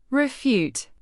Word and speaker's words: refute: Refute. Pronounce it like r e f y o o t. The first syllable, re, is short and the second syllable, fute, rhymes with cute.